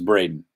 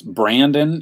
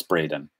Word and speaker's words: Braden: what is my Brayden my name is Braden it's Brandon if you can't pronounce it but it's actually Braden like Dallas Braden or yeah I don't